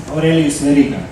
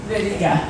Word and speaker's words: Aurelijus Veryga: Aurelijus Veryga. Veryga.